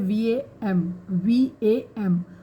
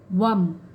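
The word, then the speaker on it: वं: और इसका जो उच्चारण है वो है VAM, वम। तो इसका हम उच्चारण जब करेंगे तो ऐसे करेंगे, वम, ठीक है।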